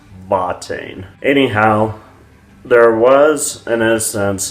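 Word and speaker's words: Watain: is another band now their name begins with a w but they're from germany originally and that's why they're pronounced vatine anyhow there was an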